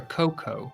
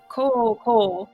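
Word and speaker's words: Kōkō: or actually I mean co co say co co not Coco like in as the I think it's the gorilla but co co forgive my my bad pronunciation not Coco like the Disney movie no not Co so cooco it's got the long marks over his O's so Emperor cooco was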